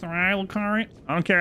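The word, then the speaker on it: Raya Lucaria: The Academy of Rhea Lucaria. Actually pronounced Rhea Lucaria.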